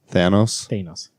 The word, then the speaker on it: Thanos: Thanos.